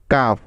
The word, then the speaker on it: cough: অর্থাৎ কোনো শব্দের শেষে GH থাকলে এবং তার পূর্বে ইউ এবং একটি কনসোনেন্ট থাকলে ওই GH এর উচ্চারণ ফ এর মতো হয়।